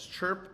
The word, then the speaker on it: Chrp: Chirp like a bird chirps, and it's spelled without the vowel, Chrp Technologies.